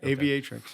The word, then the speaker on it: Aviatrix: you tell us a little bit about what aviatrix does did i pronounce that right yeah aviatrix yeah it's uh it means female pilot right